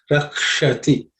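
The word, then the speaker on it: रक्षति: The Sha has to be pronounced with the tip of the tongue pointing to the roof of your mouth.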